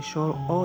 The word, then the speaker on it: স্বর অ: প্রথমে দিতে হবে উপরে মাত্রা, তারপর গোল করে আস্তে আস্তে স্বর অ লিখতে হবে। এটা সঠিক উচ্চারণ হলো স্বর অ।